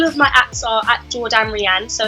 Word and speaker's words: Jourdan Riane: my apps are at Jordan Ran So it's j o u r d a n r i a n e yes it Rhymes my mom thought she